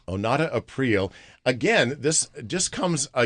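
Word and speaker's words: Onata Aprile: Well, how do you pronounce her name again? Her name is Onata April. Onata April.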